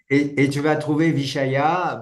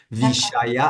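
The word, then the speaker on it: viṣaya: le 15 pardon d'cord vichaya bon en sanscrit ça s'écrit V i s avec un point mais ça se prononce Che vichaya a y a et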